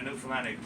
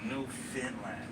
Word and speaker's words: Newfoundland: a dance and a newfoundlandic blue stars of beer and it's pronounced newfoundland not newfoundland or new finland newfoundland is the oldest